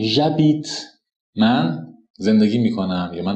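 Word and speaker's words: j'habite: قانون صادقه چرا چون اش در زبان فرانسه تلفظ نمیشه مثل اینجا ابیت اش داریم بعد یک وایل داریم پس برای صرف میگیم ژ بیت من زندگی می‌کنم یا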